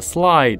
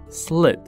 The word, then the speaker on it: slid: 好，这里出现了 slide 的过去式 slid，注意发音 slid。